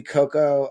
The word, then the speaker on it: Coco: It's just Coco with uh No A. It's not Cocoa.